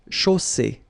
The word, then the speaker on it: chaussée: And then you get the double S between two vowels, so it's really strong. I mean, the S is s. Okay, so une chaussée.